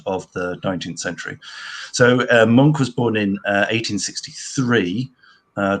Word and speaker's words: Munch: on the pronunciation here i've always said it's always called lunch but it's no no it's definitely definitely monk um yeah so edward